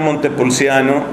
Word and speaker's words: Montepulciano: Uno de los monasterios más famosos en la tradición de mi orden dominicana es el monasterio de Monte Pulciano, que obviamente pronunciamos en castellano Monte Pulciano, de donde es Santa Inés de Monte Pulciano.